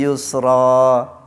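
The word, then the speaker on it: يسرا: Wonten sik tanglet Pak Jamal itu dibacanya yusron apa yusra? Ngaten nggih. Fa inna ma'al usri yusra.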